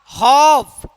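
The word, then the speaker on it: half: कॉम कॉफ वाक हफ पम would could. देखिए एल क्या है सब में?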